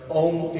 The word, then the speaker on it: Om: The om is pronounced as a u m the three primordial sounds.